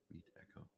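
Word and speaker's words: Meetecho: Meet Echo. That's how you pronounce it.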